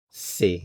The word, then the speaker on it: sait: He knows, she knows, one knows, sait. Notice the change in the spelling, but the pronunciation is the same.